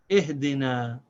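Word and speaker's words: اهدنا: So this is pronounced na, ihdina.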